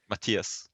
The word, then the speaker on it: Matthias: for uh no and it's not mathias it's matthias just happy you can't